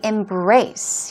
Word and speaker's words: embrace: you the first being embraced here we go stress goes on the second syllable embrace embrace means to